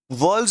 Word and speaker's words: whorl: वर्ल्ड्स बोलिए या होल बोलिए, मतलब एक ही रहेगा, बट स्पेलिंग आपको लिखनी है WHORL।